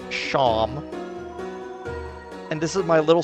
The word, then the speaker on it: Seam: Name's Seam, it's pronounced Sham.